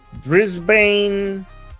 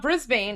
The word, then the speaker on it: Brisbane: Oh, apparently Armen, I just learned it's not Brisbane, it's Brisbane.